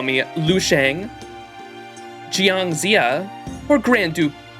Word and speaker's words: Jiang: Oh, you can also call me Lu Shang, Jiang Zia, or Grand Duke. How do you pronounce the J? Jiang? The following pronunciation.